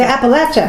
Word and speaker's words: Appalachia: going to come to appalachia yeah yeah we know how to say it now yeah oh my god someone will put an apple at you but don't do